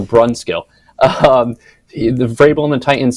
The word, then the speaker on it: Brunskill: It's announced exactly like it's spelled, so Brunskill.